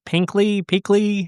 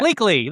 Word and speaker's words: Bleakley: So I have to say my favorite characters, if I'm saying his name right, Pinkley, however you say his name. Yeah. Bleakley, that's what it is.